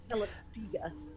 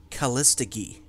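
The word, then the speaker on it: Callistege: think that the name is actually taken from the Greek word. Yeah. So it's a hard G. So I think it was 100% right, but yeah. So it was Calistiga. I thought he was pronouncing it Calistigi.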